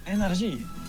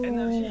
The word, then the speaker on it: NRJ: Oui, energy. I used to listen to the radio. Energy. Oh, it's NRG. I thought it was like energy as in E equals MC squared sort of thing. It's energy.